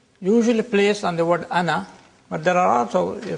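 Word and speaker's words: أنا: This means that the alif is not pronounced in continuous reading, but it is to be pronounced in the pausal form. When you pause, ana, you read the alif, pronounce the alif.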